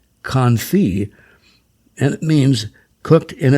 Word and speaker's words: confit: Today's menus are more likely to feature the word confit, which is pronounced confit, and it means cooked in its own fat.